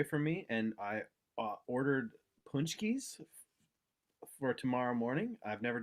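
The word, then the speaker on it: pączki: polish uh polish polish donuts tell them how it's spelled this word punch key believe it's p-a-c-z-k-i that's such a great spelling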